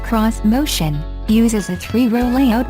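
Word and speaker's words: Xmotion: cutting-edge crossovers and suv's vish motion pronounced cross motion uses a three row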